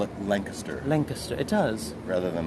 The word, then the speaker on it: Lancaster: Isn't that how locals say it, Barbara? Lancaster, as opposed to Lancaster.